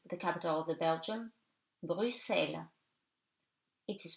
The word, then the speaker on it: Bruxelles: X in the following words is read like S, as I have already told you. 6, 10, 60, Bruxelles.